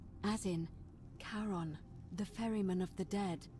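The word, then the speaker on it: Charon: it's just as you described it only your pronunciation is a little off the name you heard wasn't karen it was c h a r o n as in caron the ferryman of the dead so we've been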